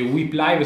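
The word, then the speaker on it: Whip Live: App Store Play Store si legge WIP live si scrive WH IP live e potrete utilizzare funzionalità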